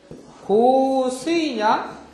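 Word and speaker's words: 香水: 고스이냐? 고즈이냐 가지고 했잖아. 고스이 하면은 뭐고, 고즈이 하면 뭐야? 고스이 하면은 향기 향자에다가 물소자를 써서 향수가 돼요. 고스이.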